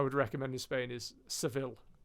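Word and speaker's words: Sevilla: recommend in Spain is sevil or seia I believe as the locals would pronounce it great town really good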